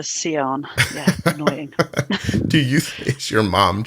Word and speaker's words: Sian: group but um yeah Sean is the most common way of pronouncing but my mum decided to pronounce her seon yeah annoying do you